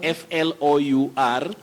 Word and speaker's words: flour: Lucy Ndigide, you say flower, flower. unga, flour, F-L-O-U-R, flour. Don't say flour or flour as commonly said locally.